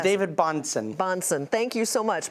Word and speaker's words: Bansson: It's David Bansson. Bansson. Thank you so much. My apologies for mispronouncing it.